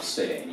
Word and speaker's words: Seleni: seleni lo potete trovare anche nella variante Selene solo all Lanusei lo chiamano seleni io lo chiamo sempre seleni perché insomma lavorando appunto per per il territorio di Lanusei Mi attengo Insomma alla pronuncia locale bene dove ci troviamo